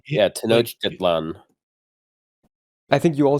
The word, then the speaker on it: Tenochtitlan: parts, you don't actually like it's very just Tenochtitlan? like as it's read. Yeah, Tenochtitlan. yeah, Tenochtitlan.